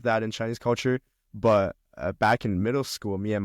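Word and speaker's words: 爸: But back in middle school, me and my friends would joke around because the pronunciation for the word father in Chinese is ba.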